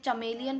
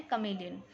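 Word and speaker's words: chameleon: इसको आप में से बहुत सारे बच्चे चमेलियन पढ़ते हैं, इट्स नॉट चमेलियन, इसको करेक्ट प्रोनाउंसिएशन है कमेलियन।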